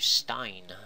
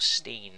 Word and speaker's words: Stein: And then lastly, I just want to talk about is the MG Sinanju Stein, or Steen as you may pronounce it.